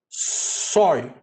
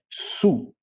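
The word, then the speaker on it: σου: Mas a nossa leitura agora, com aquilo que a gente tem do nosso conhecimento, ficaria sói, né? Ficaria sói. Sigma, ômicron, y, né? Mas a pronúncia correta é su, tá?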